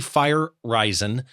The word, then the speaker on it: Feyereisen: it's it's uh fire risen and spell that really quick so people can Google it sure fireizon f-e-y-e-r-e-i-s-e-n okay perfect so people